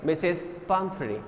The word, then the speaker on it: Pumphrey: The pronunciation of the given word is Mrs. Pumphrey, Mrs.